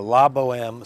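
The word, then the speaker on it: La Bohème: to think about this for us but uh Lobo M so let me spell that for you so you have it La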